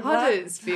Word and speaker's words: Huddersfield: I was born in Huddersfield. Huddingsfield. In Yorkshire. No. Huddingsfield. Huddersfield? Sorry. Like Hudder, but with a H. Oh, Hudder. Yeah. No. We're Huddersfield. Huddersfield.